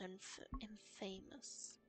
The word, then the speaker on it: infamous: Worn by a lord whose brutality was infamous. Infamous. Why do we say that word differently to infamous? That's how it's spelled. No idea.